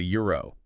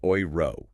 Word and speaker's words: Euro: So think about the currency the euro. In English we say euro but in German eu is oi. So the ooiro ooiro that sounds so distinct